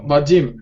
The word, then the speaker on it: Vadim: Vadim, did I pronounce? Vadim, да.